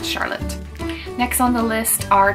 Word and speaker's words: Charlotte: I did nanny for a little girl named Charlotta, but that's how you pronounce it in Germany. And in America, it would just be pronounced Charlotte.